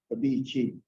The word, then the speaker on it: bibiichiin: Sometimes the I is silent, a bit, bibiichiin.